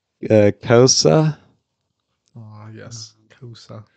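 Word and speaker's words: Xhosa: The answer is sci-fi pronounces wrong, but it's Kosa.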